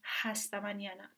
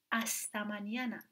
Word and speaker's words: hasta mañana: این حرف با اینکه نوشته میشه ولی هیچ وقت تلفظ نمیشه. مثلا ما اینو نمیخونیم هستمانیانه، میخونیم استمانیانه، استمانیانه.